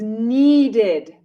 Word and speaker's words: needed: another common example is needed needed the base form is need need ends with a d so when we add ed we must say id needed here it's okay